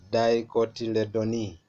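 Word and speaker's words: Dicotyledonae: classes in this fighter grass monocotyledon e let's pronounce together grass monocotyledon e and then the other one is class dicotyledons last dicot till the donee so those are the two major classes in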